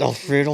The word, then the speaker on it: Alfredo: It's Alfredo like the sauce.